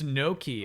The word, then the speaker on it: gnocchi: start of the word gnocchi now? Gnocchi? Did I pronounce gnocchi right? Are we technically done since the achievement popped? No, there's two. There's 2 trophies I had to get today. It's no key.